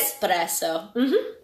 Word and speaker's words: espresso: Lots of S's. Lots yes. of S's. Espresso. That's the right one.